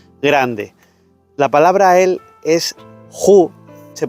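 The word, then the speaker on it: הוא: La palabra él es Hu, se pronuncia Hu, es la 1931, que es una tercera persona en hebreo.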